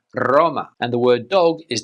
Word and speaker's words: Roma: For example, the city of Rome in Spanish is not Roma, but Roma.